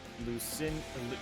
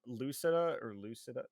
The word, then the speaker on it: Lucida: We have Lucin. I always say their wrong name wrong. Lucida.